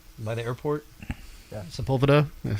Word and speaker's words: Sepulveda: Sepulveda? How you say it? Yeah, Sepulveda.